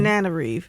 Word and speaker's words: Tana Reeve: Tana Reeve. Just think banana, but Tanana Tanana Reeve do, y'all.